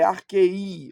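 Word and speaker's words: ἀρχῇ: Então não é arquei, é arquei, ó. Em arquei Aqui é a sílaba tônica.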